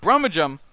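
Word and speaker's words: Brummagem: because of broom again brahmajum is this apparently pronounced bromogem uh is a city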